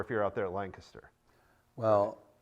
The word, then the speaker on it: Lancaster: Well, there's some people call it Lancaster, and I go, well, it's spelled with A's, so I don't know why you're calling it Lancaster, but it's Lancaster if you look at it.